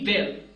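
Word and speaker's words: we'll: कर चुके हैं वी विल इसकी कंट्रक्शन है वल अब ये बिल्कुल उसी तरह जैसे कहते पया पया को भी आप वल कहते हैं उसी तरह आप इसको भी वल कहेंगे सो दिस इज वल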